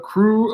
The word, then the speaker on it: Krewe: to the Google the Crew of Red Beans. Crew spelled with a K, Krewe, red beans.